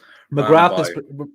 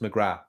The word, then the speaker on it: McGrath: That was McGrath. If that's the Irish name, it's pronounced McGrath. McGrath. Well, this was a no. The th is silent.